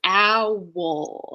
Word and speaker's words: owl: is two syllables right how many syllables is Owl you think of owl as being one syllable because it's three lettuce right but it's owl it has a dark L at the end so